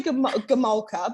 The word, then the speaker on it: Gomulka: I think Gomulka. Well, I say Gomulka, but that's I think the Aussie slang on it. The Aussie, our accents, I think, will say it differently. But I say Gomulka.